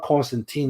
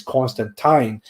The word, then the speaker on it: Constantine: say no no but it's not constantine it's constant time the word time rhymes with flying or wine even the character himself